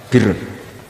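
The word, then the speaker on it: بِرّ: Ya kalau di isim fa'ilnya umumnya guru-guru kita baca barin, tapi untuk masdarnya, untuk kebaikan bacanya apa? Birun. Nanti kamu protes, oh barun itu daratan Gus, kalau birun itu kebaikan. Aku itu macaku kamus luwih suwi, bocah kok sembrono.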